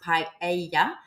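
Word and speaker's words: paella: so P the paa is actually from here pronounced paa um and it comes from the the local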